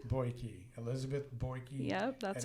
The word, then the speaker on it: Beuke: you go um Elizabeth say your last name boyi boyi Elizabeth boyi yep that's how you say it